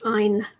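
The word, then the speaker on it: Ayn: so let's do it Ein Rand and yes that is how you pronounce her first name it's Ein like mine minus the m and I know that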